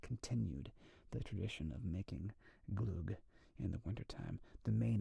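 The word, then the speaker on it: glögg: I think it's spelled Glug, glug, but it's pronounced the Gloog.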